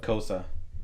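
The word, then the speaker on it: Xhosa: It's from a language called Kosa. Coast. And it's actually like a Yeah, I saw that in the subtitles. Kosa speaking or saying something in Kosa, and I was like, and what? Kosa is that language that also has clicks to it, but they just don't pronounce the clicks in a.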